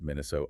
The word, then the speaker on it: Minnesota: When you say the state name itself, it's often pronounced Minnesota OT with a very long monofongal O.